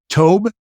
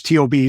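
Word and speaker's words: טוב: It's only three letters, T-O-B. So how could you go wrong with T-O-B by calling it tob? I think the B sounds a little closer to a V in Hebrew, but I'm no expert.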